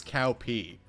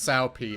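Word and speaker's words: Cao Pi: His son's name is Cow P. I'm not joking. It's pronounced Sao P, obviously, but...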